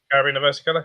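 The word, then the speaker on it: Caribena versicolor: We pronounce things in English. Carabina versicolor, is that right? Yeah, Carabina versicolor, yeah.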